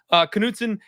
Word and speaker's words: Knutson: Knutson is 114.5 today.